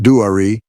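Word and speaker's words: Duare: and they saw Dwir, pronounced Dwari, and pursued her.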